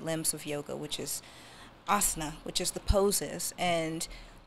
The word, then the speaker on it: asana: fitness-based poses that prioritize fitness-based poses over adaptable asana. Is that how I pronounce it?